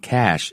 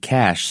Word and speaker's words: cache: new okay so would come from the word cache c-a-c-h-e uh where something is hidden or put away a cache of something okay something was hidden um you know h-i-t-d-e-n just yeah sounds a little bit like cash c-a-s-h then with my canadian